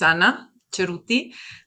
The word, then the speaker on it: Anna Ceruti: I'm my name is Anna Ceruti, just so you know how you pronounce it.